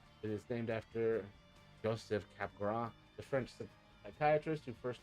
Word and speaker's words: Capgras: Pronounced Capgras. Delusion or Capgras syndrome is a psychiatric disorder in which a person holds a delusion. Oh, right. Yes. And it is Capgras. Yeah, Capgras.